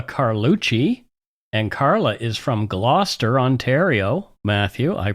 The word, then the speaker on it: Gloucester: And Carla is from Gloucester, Ontario. Matthew, I pronounced it correctly, didn't I?